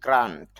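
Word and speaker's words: grant: গ্রান্ট মঞ্জুর করা বা অনুদান, এটা গ্র্যান্ট হবে না, গ্রান্ট। আবার এখানে খেয়াল করেন দুইটা ফোঁটা দেওয়া আছে, অর্থাৎ এখানে টান হবে, দীর্ঘ হবে, long sound. গ্রান্ট mother, গ্রান্ট, গ্রান্ট মানে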